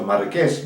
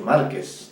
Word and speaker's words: Marqués: pertinente, lo han leído tal como hoy se pronuncia Marqués, no han dicho Márquez, no, Marqués.